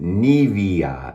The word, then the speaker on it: Nivea: when I used the Nivea, or as someone from Germany said, we pronounce it Nivea, and so my pronunciation sounded weird. So that's how we pronounce it here in America.